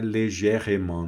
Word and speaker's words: légèrement: Esse E aqui no meio, muitas vezes não é pronunciado, tá? O E, a vogal, no meio da palavra não é pronunciado. Légèrement, tá? Não é légèrement, não.